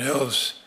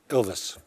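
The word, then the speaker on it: Ilves: area I might ask president ills did I pronounce that correctly sir Elvis Elvis sorry um and and Miss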